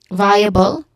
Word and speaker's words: viable: Starting with the first syllable, which is also the stressed syllable, vi, it has a diphthong sound, I. Okay? And then followed by a schwa sound, and then ends with bal, which also has a schwa sound in the middle.